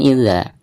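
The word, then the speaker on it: إِذَا: Baik, perhatikan yang pertama yaitu pada bacaan idza. Idza di sini dihukumi mad tabi'i karena ada harakat fathah berhadapan dengan alif. Jadi dibacanya dua harakat.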